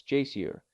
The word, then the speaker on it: geyser: the waters the geyser a word the icelanders pronounce Jer and which signifies Fury